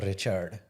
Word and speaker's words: Richard: want to clarify that the Indian pronunciation of my name is Richard you're not serious there's no way if you want an Indian enough up a little bit I wouldn't mind so Indians roll their RS too joking I was